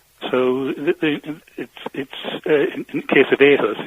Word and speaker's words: aHUS: Well, let's speak to Len Woodward, who's originally from Morriston in Swansea and is a founding trustee of the patient support group aHUS UK, a rare disease that affects people's immune system.